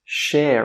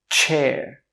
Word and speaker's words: chair: It's share, right? Share. No, we pronounce CH like this. Chair.